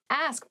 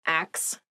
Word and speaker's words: ask: next word is ask ask please pronounce this correctly it is not ax many native speakers make this pronunciation mistake and it really bothers me ask ask me about